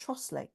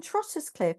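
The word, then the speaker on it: Trottiscliffe: how it's spelled trotus clip but it's actually pronounced trle and the girl I woman I used to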